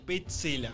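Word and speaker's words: Pezzella: Ayer Mariano Clos dijo Petzela, como debe ser pronunciado.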